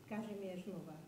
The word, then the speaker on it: Kazimierz Nowak: - Kazimierz Nowak.